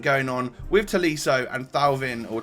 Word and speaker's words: Thauvin: And then the 86 rated, just regular Matuidi to get a French trio link going on with Tolisso and Thauvin, or Touvan, however you say his name, later on.